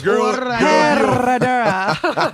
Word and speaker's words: Herradura: It's Herradura. I don't say it right because I'm not from the Mexicos. You gotta trill the R's. Herradura.